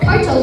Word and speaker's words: parietal: You were correct, but those aren't the ways that you pronounce them. It's the frontal lobe, parietal lobe, occipital lobe, and temporal lobe, okay?